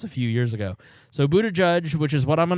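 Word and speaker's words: Buttigieg: use racial slurs now how do you say mayor Pete's last name I say Buddha judge that's how I've heard it uh that's how I've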